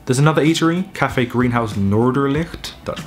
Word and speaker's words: Noorderlicht: There's another eatery, Café Greenhouse Noorderlicht, Dutch pronunciation, which is where we went.